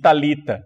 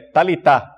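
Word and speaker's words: talitha: na pronúncia grega então a gente disse talita não é tálita não é a barra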